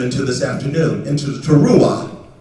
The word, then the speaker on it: teruah: call the teruah. That is a battle cry. And that's where we're in. This is what I want to lead you into this afternoon, into the teruah. Teruah. I'll spell it for you.